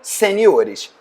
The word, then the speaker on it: seniores: Algumas palavras acabam tendo modificação na sílaba tônica. É o caso da palavra caráter, que faz plural em caracteres. Também a palavra júnior, né? Ou seja, campeonato júnior, um campeonato de jogadores juniores. Júnior, juniores. Sênior, seniores.